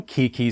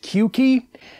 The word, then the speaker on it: Qeeke: i'm gonna be talking about the cr840 from kiki studios and yes that is how it's pronounced at least according to one of the